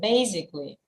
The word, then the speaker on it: basically: um the word basically I think you pronounce it in a different manner can you repeat after me basically basically basically um oh sorry the second one basically basically okay yeah yeah so the first syllable is stress basically basically so